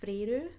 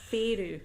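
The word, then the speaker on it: Feyre: Now, I did mispronounce her name for the whole of the first book, and it wasn't until the end of the first book it gives you a pronunciation guide, and I went, oh. So I might say it 2 different ways, but I think her name is Freyru. No, it's not. It's Feyru. Feyru.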